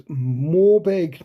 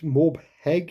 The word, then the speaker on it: Morbheg: think the name is Morbeg Knights, Morbheg Knights. I think the H is silent. I think they're Morbeg Knights.